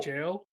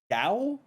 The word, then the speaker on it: gaol: This one's tough. GAOL. Goal? Oh, jail? Gowl? Gowl? You said GOAL? GAOL. Jail, bro.